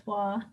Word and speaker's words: Roy: pronounce the name right it's not Roy it's w Patrick W okay based